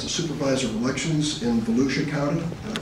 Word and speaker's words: Volusia: Ann McFall is the supervisor of elections in Volusia County. Did I pronounce it correctly?